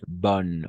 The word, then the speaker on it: bonnes: Bonne et féminin pluriel, bonne aussi. O sea, no pronunciamos las S al final, ni la E.